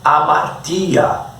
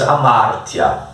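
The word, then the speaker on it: ἁμαρτία: E localize a palavra outra grega aí, amártia. Alguns pronunciam amartia, para nós não importa. A fonética seria em português amártia.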